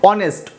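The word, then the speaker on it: honest: উচ্চারণ কিন্তু অনেস্ট ও থেকে শুরু হয়েছে, ও ভাওয়েল থেকে, কিন্তু লিখতে হলে তোমাকে এইচ দিয়ে লিখতে হবে।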